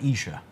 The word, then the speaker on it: Esher: From Esher. Some people pronounce it Esher. Esher. Yes. Okay. You say Esher, I say Esher.